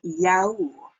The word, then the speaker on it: yaourt: Y-A-O-U-R-T. Looks really similar to the English word, but you pronounce it le yaourt or yaourt.